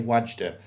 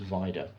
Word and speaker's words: Wajda: It's called Ashes and Diamonds, directed by Andrzej, I would say Wajda, but I believe it's pronounced Vida.